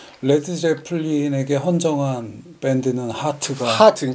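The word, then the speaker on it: Heart: 제플린에 헌정한 밴드는 하트가 하트 그러니까 하트 짧게 발음해야 돼요 하트는 길게 해야 되는데이 하트는 누구냐면 프리 투드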